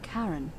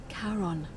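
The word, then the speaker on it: Charon: it's just as you described it only your pronunciation is a little off the name you heard wasn't karen it was c-h-a-r-o-n as in caron the ferryman of the dead the fairy man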